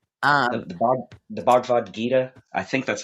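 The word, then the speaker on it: Bhagavad Gita: He he was largely inspired by the uh how's it pronounced? The Bvad Gita. Um the Bvad Gita. I think that's how it's said. It's a specific the Bavad Gita, right?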